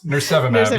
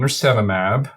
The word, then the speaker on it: nirsevimab: I've heard it pronounced various ways. Nirsevimab, yeah.